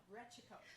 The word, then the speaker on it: Rechico: Just how it's spelled, Rechico.